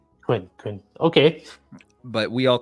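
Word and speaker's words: Kun: the Coon, but it's pronounced Quinn, according to Taki, anyways. Quinn.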